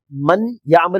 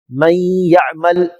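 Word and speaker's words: من يعمل: பாருங்கள் சத்தா வந்திருக்கிறது ஆகவே மன் யாமல் என்று சொல்லாமல் மையமல் மையமல் மன்ு சொல்லாமல் யாவோடு இணைக்க வேண்டும் ஆனால் அதே நேரத்தில் அந்த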